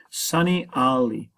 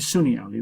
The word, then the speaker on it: Sunni Ali: in Turkey as well Sun Ali actually Sunni Ali proba better pronunciation Sunni Ali Sunni Ali